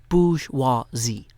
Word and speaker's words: bourgeoisie: And if you leave here with 1 lesson today, 1 lesson, 3 syllables, bourgeoisie, you can do it.